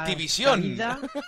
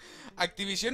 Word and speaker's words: Activision: Activision. Con acento en la O final, suena muy raro.